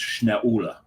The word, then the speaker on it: Schnaula: Oh, and the brewery you're talking about should be probably pronounced Schnaula. Yes. Okay. Schnaula. Schnaula. Oh, Schnaula. Yeah. No, Schnaula. Schnaula. Yeah. Schnaula. Ula is the German word for owl.